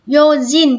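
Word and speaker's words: 用心: Vì bình thường chữ này mình đọc là xin, đúng không? Như kiểu xin bay các thứ chẳng hạn này, đúng không? Như trong từ này nó là yojin, nhớ chưa?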